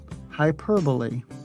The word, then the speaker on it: hyperbole: Instead, the stress falls on the second syllable, per, hyperbole.